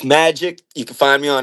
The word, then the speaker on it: MVJIK: Yo, so yo, tell the people your name because like you said, it's spelled a little bit different. Tell people it's Magic.